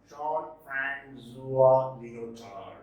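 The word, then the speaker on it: Jean-François Lyotard: This is pronounced Jean-Francois Lyotard.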